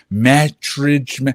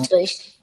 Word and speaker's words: Maastricht: We did Oh, there was this place I still can't freaking pronounce it. Matridge. I don't. I'm horrible. Mannheim, It's not. It's like it's. I want to say it's like München, Mastrid. I don't. Maastricht, That's Maastricht.